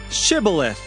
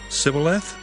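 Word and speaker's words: shibboleth: said to him then say shibaleth and he said sybileth for he could not pronounce it right then they seized him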